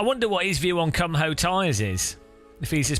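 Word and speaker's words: Kumho: I wonder what his view on Cum Ho tyres is. If he's as passionate, and that is how you pronounce it, guys.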